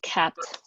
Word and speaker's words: kpt: demo of open source tool called caps it's spelled like kpt and I'll let Phil